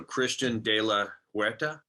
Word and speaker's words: Christian de la Huerta: I want to pronounce this right, Christian. So Christian de la Huerta. Perfect. That's really good. I'm impressed. Yeah. Well, I'm trying. It's not exact, but it's close, right?